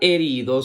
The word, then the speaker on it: herido: un herido muy bien la palabra herido se escribe con h e que suena e r i que suena ri d o que suena do heido herido muy bien la siguiente imagen